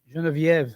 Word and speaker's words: Geneviève: I think of all the years I spent mispronouncing Genevieve. Geneviève.